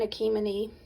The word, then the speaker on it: Achimenes: n e s and my understanding is you don't pronounce the last s um and they come